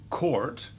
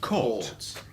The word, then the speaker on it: caught: And not court, but caught. Caught. So Brits say caught.